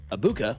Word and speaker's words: Egbuka: of Ohio State, Emeka Egbuka, going for over. So that guy, Abuka is how you say his name, Puka or JSN.